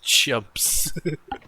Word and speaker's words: Trumps: bartolomew Trump s okay this is pronounced chumps all right um it's not about taller main jumps yes like Charlemagne but also Bartholomew yes that's